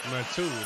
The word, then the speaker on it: Metu: Metu, that's how you say it.